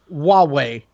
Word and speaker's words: Huawei: how to pronounce it and it is literally pronounced Huawei it's literally why Luigi as a phone company Huawei yeah yeah it's a h ua w e